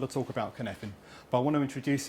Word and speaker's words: Cynefin: So, who here has heard of Cynefin?